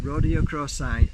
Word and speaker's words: Rhodochrosite: How do you pronounce it? Rhodochrosite.